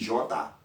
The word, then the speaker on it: jota: Sauf que la différence qui gagne, au capable, ouais, le mot vient dans J, je vais prononcer J, je dis Jota.